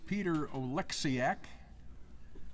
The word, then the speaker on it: Oleksiak: Our next player is from Nashville, Tennessee, Peter Oleksiak. I did pronounce that correctly?